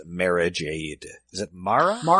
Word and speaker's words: Mara Jade: I only used him because I couldn't remember how to pronounce Mara Jade. Is it Mara? Mara Jade. Mara Jade.